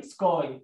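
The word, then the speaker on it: sky: الاس بلس كي دبلندس اسمها سكا. حط اللونج اي سكاي. احنا قلنا حرف الواي في الاخر لو الكلمه صوت حرف صوتين او حرفين او ثلاثه في اغلب الاحيان بنطق الاي ايه لونج اي مش لونج اي.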